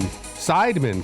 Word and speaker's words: Seidman: and gentlemen spin seidman sidemen correct that's how you say it got you nailed it